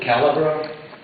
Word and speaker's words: Calabro: can help me with the spell with the pronunciation be followed by john tom my name is calabro c-a-l-a-b-r-o i lived at seven candy europe and